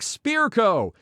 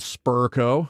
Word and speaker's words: Spirko: how it gets twisted it's pronounced like spearco versions of it wrong included spur Co I get that but what's up with the spitco no tea in there Sparco too tons of Oddball